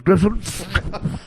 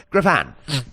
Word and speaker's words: Griffon: I'm sorry to you're that fruit with the Brussels Griffin? Griffon. Excuse me? Actually, it's pronounced Griffon. What is? You said Brussels Griffin. It's Brussels Griffon. Wait, what? It's Brussels Griffon. You said Griffin.